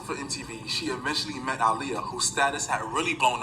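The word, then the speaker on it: Aaliyah: Even Ananda got tired of people pronouncing Aliyah's name. I do too. It's Aliyah.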